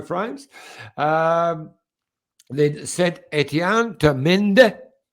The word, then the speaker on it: Mende: Then Saint Etienne to Mende. How do you say it, Scotty? You say Monde, yeah.